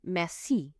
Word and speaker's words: merci: In French, you always stress the very last syllable of any word. So, because mei has two syllables, you stress the last one. You put the emphasis on the c on the end. You say mei rather than me.